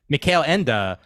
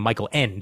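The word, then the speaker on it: Michael Ende: uh director but uh Mel Enda thank you for correcting me on the pronunciation of the name as I would have been calling him Michael end otherwise uh but uh but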